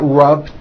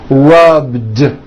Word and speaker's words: rubbed: All I did was add a voiced D sound at the end. Rubbed. It's not rubbed with an unvoiced T. It's rubbed, like that.